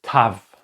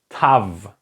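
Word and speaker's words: תו: this one is called Tav Tav okay Tav like in the first part if you can remember we had the Tet and the Tet and the tough have exactly the same pronunciations so let me just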